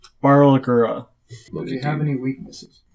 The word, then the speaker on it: Barlgura: There are 6 other Fardana here, about 10 Rodderkin, and then there's a Burlgarla. Did I pronounce that right? Barlgura.